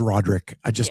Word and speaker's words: Roderick: But his name is Roderick. So we get it right. Yeah, Roderick. Yeah, Roger. Did I say it wrong? I thought you said Roger, but Roderick.